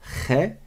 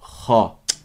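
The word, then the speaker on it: خ: Je dis pas khe, mais je dis kha.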